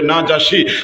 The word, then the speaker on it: নাজাশী: তাইলে এতক্ষণে যা বুঝলেন যে বাদশাহ, ওনার নাম বাদশাহ নাজাশী, যদিও আমরা উচ্চারণ অনেকে বললে দেখি নাজাশী শব্দটা আমার জানা মতে সহি হবে নাজাশী।